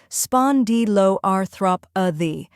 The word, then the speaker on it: spondyloarthropathy: The correct pronunciation is spondyloarthropathy. Let's break it. First part, spondylo, spon like pond with an S, di like D, and lo like low.